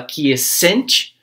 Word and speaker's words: quiescent: Quiescent, a gente fala quiescent, né? Então a sílaba que é estressada no inglês e no